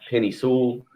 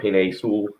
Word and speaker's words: Penei Sewell: And the one guy, the Bengals, a lot of talk about Penny Sewell or Penei Sewell, I think that's how you say it correctly, or Jamar Chase.